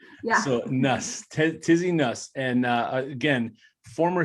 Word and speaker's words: Nuss: So it's Tizzie Nuss, right? Like bus, but with an N. Yeah. So Nuss, Tizzie Nuss.